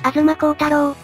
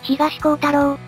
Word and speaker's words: 東光太郎: だぜバカねウルトラマンタロウは吾妻孝太郎じゃなくて東孝太郎と読むのよあうそうだった